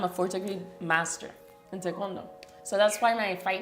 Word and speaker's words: Taekwondo: I started with Taekwondo when I was 2 years old. You say it properly. Taekwondo.